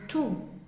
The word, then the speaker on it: tout: Also note that the T in tout is silent.